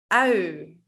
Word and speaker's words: ui: Ui. Ui. So ui actually means onion. So I sometimes tell my students, make it look like you're eating an onion.